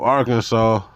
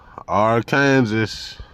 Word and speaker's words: Arkansas: thing let's look up Arkansas AR Kansas Arkansas how the they call that Arkansas and it's spelled aranes is pot legal in